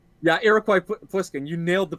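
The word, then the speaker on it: Iroquois Pliskin: iroquois or something like that his name yeah iroquois poliskin you nailed the pronunciation that's exactly it awesome hey i'm a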